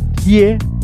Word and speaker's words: die: Pero ya viste que se escribe die, pero se dice di. La E después de la I es muda o hace que la I se alargue. En este caso, di suena como una I larga.